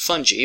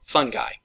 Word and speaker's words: fungi: And that includes plants, animals such as you and I, and most fungi or fungi. Either pronunciation is correct.